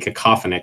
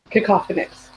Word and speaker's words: cacophonous: okay is it cacophonic so I keep wanting saying cacophonic so I'm not entirely sure that's the right pronunciation cacophonous which one is coffee